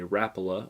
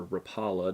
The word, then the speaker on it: Rapala: in front was throwing a rapula or rapala depends on where you're from and how you pronounce that but he was throwing